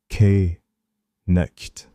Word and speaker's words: knight: The word night used to be pronounced with every single letter. K, nicht. The K went silent. The GH went silent.